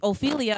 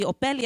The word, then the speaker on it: Ophelia: But if you were to pronounce it, it would be Opelia, and that's fucking stupid. That's not my name.